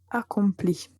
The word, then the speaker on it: accomplit: Mais la prononciation est identique pour toutes les personnes du singulier. Donc, j'accomplis, tu accomplis, il, elle accomplit.